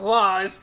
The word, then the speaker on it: Lore: Well, see, in this language, R is pronounced. It's the Z sound, right? So, only when it's at the end of a syllable. So Lore is actually pronounced Laws, which means Legend of Zelda.